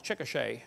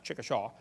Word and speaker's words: Chickasha: it 2005 textbook and I pronounced it wrong as Chickasha that's Chickasha Chickasha Oklahoma I got corrected during